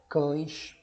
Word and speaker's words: cães: Percebam aqui como na palavra cães, a letra E, ela vai produzir o som de I.